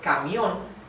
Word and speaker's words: camión: Here, we separate this in syllables like this. Camión. Camión. So, how do I know that these two vowels go together in the same syllable? Right? Why not ca, mi, on? Why is it camión? Because this is a diphthong.